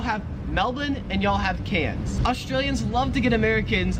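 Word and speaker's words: Cairns: name the cities and like say how it's pronounced. So yes, it's Melbourne and it's cans.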